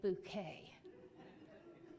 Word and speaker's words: Bucket: there was hyacinth bouquet the name was actually bucket b-u-c-k-e-t but she was so above the ordinary that she needed to pronounce her name bouquet and she reminded everyone